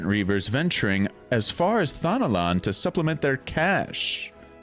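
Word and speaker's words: Thanalan: Alas, we did not count on the serpent reavers venturing as far as Thanolan to supplement their cash. I'm pretty sure that's how to pronounce that word, right?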